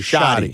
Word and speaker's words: shoddy: say shorty or shoddy?